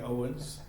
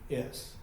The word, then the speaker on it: Owings: David Owings, not spelled like Monroe County Owens. I just asked him about that. But it's Owings, and we're Wowens around here.